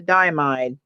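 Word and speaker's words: Diamine: Okay, continuing on with the diamide, which is, this is how you spell that. Really? Ay, ay, ay. Like diamond, but not.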